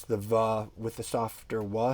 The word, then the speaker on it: vav: you probably know um vav is the sixth letter in the hebrew alphabet and it is pronounced va it is not pronounced wha nobody pronounces it that way and um unfortunately